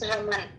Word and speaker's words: Raman: Now let's go back to Raman. Raman, did I pronounce your name correctly? Raman or Raman? Raman, ma'am, it's Raman.